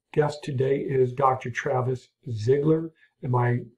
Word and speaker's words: Zigler: Travis Zigler. Am I pronouncing that correctly?